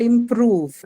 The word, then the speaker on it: improve: Improve is the verb. So obviously it's going to take the stress on the second syllable, Second right?